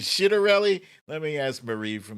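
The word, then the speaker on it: Ciattarelli: better lead over jack shittarelli yeah i think i think that's how you pronounce his last name is it shitarelli let me ask marie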